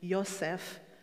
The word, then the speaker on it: Yosef: forth the name itself joseph or by the hebraic pronunciation yosef means god will give